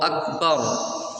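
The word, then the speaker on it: أكبر: তাকবীরে তাহরিমা বলার সময় আল্লাহু আকবার যখন আমরা উচ্চারণ করি অধিকাংশ মানুষেরই আকবার অর্থাৎ ক এর স্থলে গ চলে আসে।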